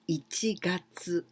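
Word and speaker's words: 一月: Gatsu, here, getsu, tsuki, gatsu, but here we must know that this is the pronunciation of ichi gatsu. Ichi gatsu, it means the first month. This means January, ichi gatsu.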